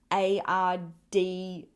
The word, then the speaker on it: RDO: They don't say the letters like RDO. It's like ARDEYO, like RDO.